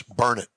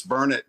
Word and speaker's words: Burnet: The big saying here locally is it's burn it, darn it, learn it.